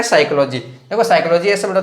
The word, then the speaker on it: psychology: तो साइकोलॉजी में फिर से देखो यहाँ क्या है, पी है साइलेंट है। ठीक है, पी साइलेंट है तो यहाँ इसको बोला साइकोलॉजी।